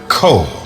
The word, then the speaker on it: ko: would say to her CO as if it was spelled KO a single syllable and the little girl